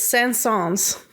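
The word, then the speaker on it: Saint-Saëns: what's your last name it is San songs it's French SAFF sauce mm-hmm you got it like the composer yeah just like that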